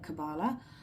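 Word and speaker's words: Qabalah: Tree of Life and the cabala is that how you pronounce it yeah q a b a l a h I'm hoping I pronounced that right this is so interesting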